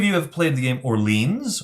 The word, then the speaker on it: Orléans: If any of you have played the game Orleans, or Orléans, as some people pronounce it, this is very similar to the gears or the cogs that cover up spaces.